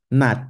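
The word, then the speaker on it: 낮: This is actually pronounced as Nat, Nat. Are you guys hearing the soft T? Nat. Not na, not naj. It's nat.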